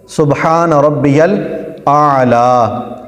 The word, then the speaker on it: سبحان ربی الاعلی: سبحان ربی الاعلی کہنا۔ اس کا تلفظ سبحان ربی الاعلی، اعلی، کئی سبحان ربی الاعلی، سبحان ربی الاعلی، تو یل اعلی نہیں ہے، یل اعلی، یل اعلی، سبحان ربی الاعلی ہے، اس طرح پڑھنا ہے۔ نمبر 42 سجدہ میں